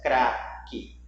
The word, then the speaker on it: craque: E depois tem o dígrafo, que é o QU, cuja letra U você não escuta a pronúncia. Craque. Você escuta o som da letra U?